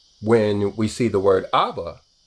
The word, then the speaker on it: Abba: But you pronounce it Abba when we see it in the New Testament. So that proves that the Aleph is not silent.